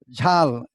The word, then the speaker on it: ঝাল: ঝাল, অনেক ঝাল লাগছে, অনেকে অনেক জাল লাগছে, অনেকে এই ঝালকে জাল বলে ফেলে, ভুল করে ফেলে।